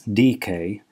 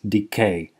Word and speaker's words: decay: follows I systematically mispronounced the word decay I pronounced it incorrectly as DK as many people do and I'm very sorry